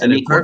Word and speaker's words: Anikwa: Firstly, assalamu alaikum, Sister Anikwa. Is that how you say it? Anikwa? Perfect.